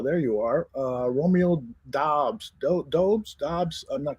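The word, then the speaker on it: Doubs: romeo where arthur there you are uh romeo dobbs dobbs dobbs it's actually it's it's pronounced dobbs even though it looks like dupes okay this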